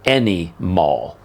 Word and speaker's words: Anymal: play on words, called Anymal, like animal, but with a Y, because the company is